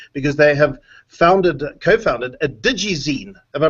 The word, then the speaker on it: digizine: Well, digizine, have I pronounced it? Yeah, digizine.